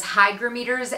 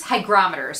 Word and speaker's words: hygrometers: or other plant tubers hydrometers and uh moisture meters hygrometers sorry that's how you pronounce these um in like